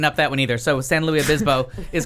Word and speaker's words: San Luis: No, So it's really San Luis Obispo. Right. I know And that. you can't whiten But it. You can't. It's San Luis.